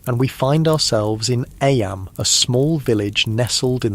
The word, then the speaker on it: Eyam: It's now the summer of 1665, and we find ourselves in Eyam, a small village nestled in the picturesque hills of Derbyshire, England. Eyam, is pronounced just like Eam.